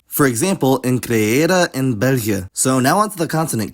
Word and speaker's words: België: The other diacritic is the diaresis or trema, and it's put over a vowel to indicate that it's pronounced individually and not as a multigraph. For example, in creëren in België.